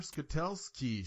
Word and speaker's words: Skutelski: So we are here with Jennifer Skutelsky.